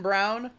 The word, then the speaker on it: Braun: It's weird that Braun is pronounced Brown. It's a little weird, but that's how it's pronounced.